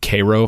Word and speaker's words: Cairo: city called Cairo, and they actually pronounce it Cairo for who knows why.